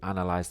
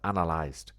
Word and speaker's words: analyzed: yeah I did but you said you analyze no no I said analyzed okay so we need to make sure that we pronounce that ed sound at the end I completed the project